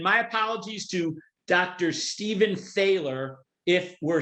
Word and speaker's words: Thaler: Stephen Thaler if we're saying it wrong. And by the way, we might even be saying Thaler's name wrong. It's T-H-A-L-E-R, but we're going to call him Thaler, okay?